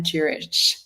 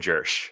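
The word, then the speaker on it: Jirsch: life progression with Anne Durich. I know I had trouble saying her name. Can you just pronounce her name for us? It's Anne Jersh, yeah, Thank Jersh.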